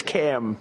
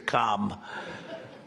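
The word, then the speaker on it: Kamla: It's Cam, right? Cam, as opposed to Calm.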